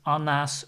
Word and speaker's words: Anna: Anna's book that is Ana's book so the the name Anna in Dutch is pronounced as Ana so the last letter the last sound of the name is ah so if it's her